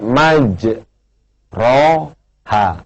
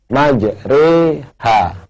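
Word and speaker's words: مَجْرٰىهَا: yang berbahagia di Quran tulisannya maj ro ha tapi tidak boleh dibaca majro ha harus dibaca majri ha ya kayak kita bilang sate ya namanya imalah atau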